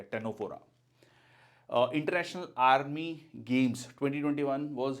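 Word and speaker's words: Ctenophora: Tapeworm, liver fluke, Fasciola, टेनोप्लाना या टेनोफोरा भी कहा जाता है। सी यहाँ पर साइलेंट है, आंसर है आपका दिस, ठीक है।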